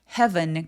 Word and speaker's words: heaven: 근데 heaven 같은 경우에는 장모음이 아니에요. e a라고 해서 무조건 길지 않습니다. 스펠링과 관계 없이 짧게 소리 내서 and flew back to heaven.